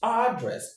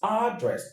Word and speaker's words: address: But, in the American English, the stress is on the first syllable, which is address, address, address.